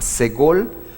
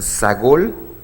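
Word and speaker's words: סגול: esta es la primera se llama ségol algunas personas lo pronuncian sagol y son tres puntitos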